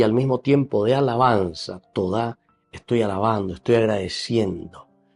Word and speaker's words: todá: En hebreo se dice toda, todá. Toda no dice gracias, todá, todá. Entonces aquí esta acción de gracias y al mismo tiempo de alabanza todá estoy alabando, estoy agradeciendo, o sea, exulto desde adentro.